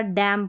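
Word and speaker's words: damn: ऑटम म न नहीं कॉलम पढ़ा, सोलम पढ़ा, डैम पढ़ा। डैम। तो इस तरीके से आपने ये याद रखना है कि एम एन के कॉम्बिनेशन में एन साइलेंट रहता है और लास्ट में रहता है ये कॉम्बिनेशन।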